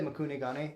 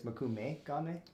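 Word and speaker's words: mokume-gane: I always say Makune Gane, but it's Makume Gane. Mokume, yeah. Mokume? Yeah. So it's an M-E and not an N-E at the end of that.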